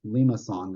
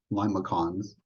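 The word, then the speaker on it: limaçon: what they're they're they're how they're pronounced lima song they're not limocons okay it's a there's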